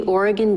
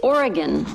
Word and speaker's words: Oregon: high desert encounters with rural America along the Oregon desert trail chapter one high centered first of all it's Oregon not Oregon and it's mal you're out here